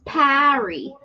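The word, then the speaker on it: Pari: Her name's Perry, P-A-R-I. but she says Parry. She pronounces her name a certain way, but you pronounce it another way, and your No, way's it's right. Perry. That's how she says her name.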